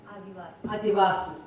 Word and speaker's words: Adivasis: Did I pronounce that right? Adivasis.